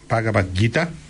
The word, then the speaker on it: Bhagavad Gita: India que se llama Bhagavad Gita. Se escribe B larga H A G A B corta A D, Bhagavad, y Gita, o Gita sería mejor, G I T A, Bhagavad Gita.